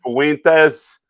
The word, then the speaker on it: Fuentes: Fuentes, that's how you say it, name Fuentes.